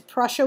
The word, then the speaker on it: Prussia: Austria and Prussia again it's Prussia with a pea I did not mispronounce that if you want to